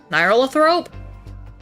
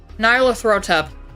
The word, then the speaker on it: Nyarlathotep: Try to pronounce... Nyarlathrope? Oh, you fucking spelt it wrong, you jerk. Nyarlathotep.